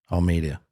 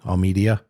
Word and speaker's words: Almeida: Almeida. What did I say? Al Media. Almeida. It's spelled Al Media, but Ala I have Jolton winning by uh submission for this fight.